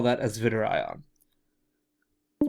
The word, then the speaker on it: zwitterion: As a result, at pH 7.4, we have the zwitterionic. That's another one that Chalmers is going to test you on your pronunciation skills.